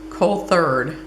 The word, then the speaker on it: Coulthard: Because I said my last name wrong all my life. It's Coulthard, and it was like colt herders, I guess.